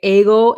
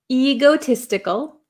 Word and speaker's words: egotistical: and egotistical egotistical um I have a lot of students in Japan that say ego egotistical um it's a long e sound e egotistical egotistical egotistical is a